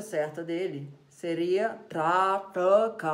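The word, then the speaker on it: trāṭaka: chora não gancho tão o trata com a pronúncia certa dele seria tá troca ó não trato tá troca 2º t tem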